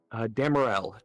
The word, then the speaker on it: Damerel: What was the town name and how do you spell it again? Damerel. Damerel.